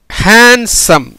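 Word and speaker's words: handsome: அடுத்து இப்போ வந்து ஹேண்ட்ஸம், ஹே அழகான, ஹே இதுலேயும் ஏ தான் உச்சரிக்கப்பட்டிருக்கும், ஹே ஹெச்ஏஎன்டி எஸ்ஓஎம்இ, ஹெச்ஏ உயிர் மெய்யெழுத்து, என் மெய்யெழுத்து, டி மெய்யெழுத்து, எஸ்ஓ அப்படின்னா ஸோ, is plus O ஸோ, எம் ஈக்கு உச்சரிப்பு கிடையாது. ஆக உயிர் மெய்யெழுத்து, மெய்யெழுத்து, மெய்யெழுத்து, உயிர் மெய்யெழுத்து, மெய்யெழுத்து, ஆக எப்படி வருது, ஹேண்ட்ஸம், ஹேண்ட்ஸம்னு வருது.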